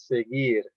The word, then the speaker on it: seguir: So now if you have U between G and I, the sound goes directly to I, so you pronounce it as seguir.